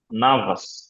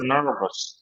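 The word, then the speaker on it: nervous: আসলে উচ্চারণ হবে আর র এর পরে কনসনেন্ট আসলে উচ্চারণ হবে না যেমন এটার উচ্চারণ কি হবে বলেন তো নর এরপরে দেখেন আছে তাহলে এটা কনসন্ট তাহলে ব্রিটিশ কি হবে উচ্চারণ নাভাস নাভস আর আমেরিকান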